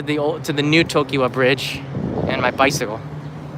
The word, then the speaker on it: Tokyo: that we know today tokyo two syllables not three by the way all right tokyo i used to do